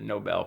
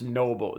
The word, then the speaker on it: Nobel: yeah and so anyway Trump obviously misspelled and mispronounced noble noble and nor the Nobel Peace Prize and OBE L know